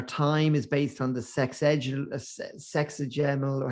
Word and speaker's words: sexagesimal: And then like yeah, I'm just thinking our time is based on the sexagemal, or how do you say that word? So I call it 60, the power of 60. sexagesimal.